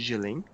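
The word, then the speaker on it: Kjellén: termo geopolítica foi o gelen é inclusive gente a a pronúncia né do nome é livre mas eh escuto muito de gelé mas o primeiro teórico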